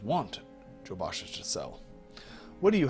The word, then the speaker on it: Jobasha: Have I been pronouncing it wrong this entire time? I probably have. Like half the things in Morrowind, completely impronounceable. Jabashas. Not Joe. You are right. You as a friend. Jacob, you are right. I am wrong. I've been pronouncing Jabashas. Rare books. It's Joshaba's rare books. I am terrible.